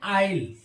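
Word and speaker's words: isle: एल एंड I generally L एंड आई के पहले यदि एस आता है तो साइलेंट होता है जैसे ए आई एस एल ई इसको हम पढ़ते हैं आइल आइल य एस क्या होता है साइलेंट हो गया ऐसे ही आई एस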